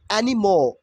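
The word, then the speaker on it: anymore: Kant stand you এনিমোর দেখেন এনিমোর কিন্তু না এন ওয়াই এম ও আর ই একদম লাস্টে যদি আর ই থাকে আর ই উইল বি সাইলেন্ট হেয়ার তাহলে এখানে correct pronunciation will be এনিমোর I can't স্ট্যান্ট ইউ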